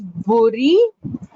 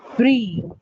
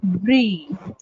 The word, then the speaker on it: brie: You call it as buri, right? It's pronounced as brie. It's pronounced as brie.